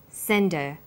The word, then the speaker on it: send her: did you send her send is the strong form and her is weak because her is not stressed we drop the initial hurt sound so it's pronounced sender what did you send